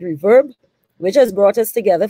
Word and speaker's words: RVRB: on this outstanding initiative our reverb rvrb i believe they pronounce it reverb which has brought us